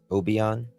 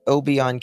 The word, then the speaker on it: Obion: Is it Why does it say Obian County Jail, but over here it says Obon as well?